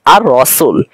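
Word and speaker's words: الرسول: পরবর্তী হরফকে তাফসীর দিয়ে পড়তে হবে যেমন আমরা উচ্চারণ করে থাকি আর রাসুল এখানে কিন্তু আমরা লামের উচ্চারণ করি না কিন্তু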